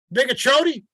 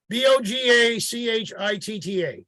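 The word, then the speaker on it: Bogue Chitto: Bigachoti, Bogachita, that's right, Bogachita. Bogachita, that's how you say it.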